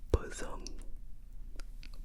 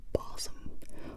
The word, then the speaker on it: bosom: to be pronounced like bossom or bosam. But then you see the pronunciation guide and you realize it's actually bosom like the cry of a broken ghost.